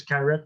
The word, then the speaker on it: Carette: well it's all right it's like uh just like uh if you pronounce a garrett with a g but this is carrot with the c what do you want